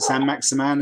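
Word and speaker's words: Saint-Maximin: It's interesting that neither of you are kind of imagining that is it San Maximan? Is that how you pronounce it?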